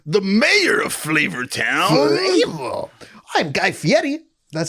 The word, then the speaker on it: Guy Fieri: i am louise the mayor of flavortown i'm guy fieri that's how you pronounce his name do you know that yeah